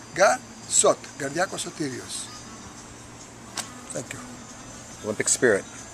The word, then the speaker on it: Garsot: name is it becomes garcott from the first syllable of gar and the first syllable sothirios shot altogether gar shot thank you olympic spirit